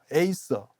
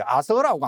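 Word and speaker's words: Acer: 그래서 어 미국 사람들은이 예를 들어서 단풍나무 속을 에이서라고 하지 아서라고 안 읽어요.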